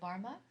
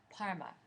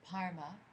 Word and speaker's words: Barma: Say Barma, Rabjung. Actually, my bad pronunciation. Parma. It's the pronunciation, the Tibetan, so it's transliterated as B-A-R-M-A, but it's pronounced more like so it's Parma, Rabjung.